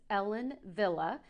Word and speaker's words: Ellen Wille: This is Ellen Villa. And yes, I said it right, because remember, if you